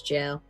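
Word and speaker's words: Gaol: That's a very antiquated way of spelling jail in just jail. Gladstone jail. It looks weird, but it's jail.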